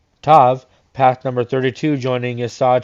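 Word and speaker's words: ת: The 22nd letter, Tav, path number 32, joining Yesod to Malka's numerical value of 400. This letter means a T-shaped cross when without a dogish is pronounced an S.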